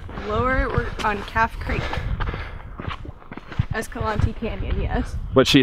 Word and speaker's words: Escalante: Is it Escalante or Escalante? Escalante. If you think she's right, let me know in the comments. So we're going with Escalante.